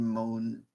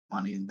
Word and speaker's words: Monaghan: I think Cameron Moan, whatever his name is, he did good for the Star Wars game. He's okay. Monaghan? Monaghan, that's what it is.